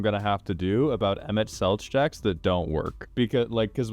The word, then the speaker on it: Emet-Selch: It's pronounced Selk. Oh, Emet-Selch.